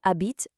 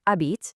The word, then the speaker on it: habite: Notice how the a acts as this perfect little bridge between the verb habite, which by the way has a silent h at the start, and the city Paris.